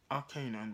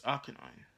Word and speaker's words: Arcanine: I keep going Arcanine, but it's Arcanine.